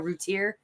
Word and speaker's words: Routier: I think Darlene Router was like that. Routier is how you pronounce it.